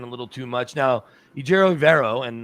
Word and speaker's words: Ejiro Evero: Now, Ejiro Evero, and the only reason I know exactly how he pronounces it, I've talked to him 100 times, I saw a video where he sit there, he goes, "My name is Ejiro Evero."